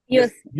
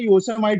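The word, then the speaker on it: Yosemite: योसेमिटी। योसेमिटी, हाँ। वो आजीवन में आज तक मैं उसे योसेमाइट बोला करता था।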